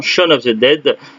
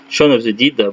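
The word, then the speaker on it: Shaun of the Dead: films le premier étant Shan of the dead Shan of the deed prononcé comme vous voulez un film sur des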